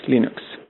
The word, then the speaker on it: Linux: Linux hello this is lenus stals and I pronounce l s Linux like he recorded that audio and put it